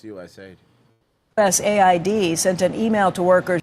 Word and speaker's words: USAID: overseas if it's USA us Aid sent an email to workers thank you for at least pronouncing it right you did call it usaid instead of us Aid yesterday usaid cuz it's